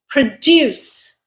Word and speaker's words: produce: Produce, pronounced this way, it is a verb. Produce. It means to develop or to yield or to compose or to create. The factory produces 2,000 pillows per day. Produce, verb. Or we could pronounce this word as produce.